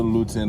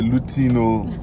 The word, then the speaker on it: Luton: We're entering into Luton now. Luton, no, not be Lutino.